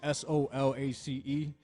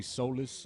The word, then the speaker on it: Solace: yeah and it's soulless s-o-l-a-c-e so a lot of people say solace that's the proper way to pronounce that but i say soulless i always pronounced it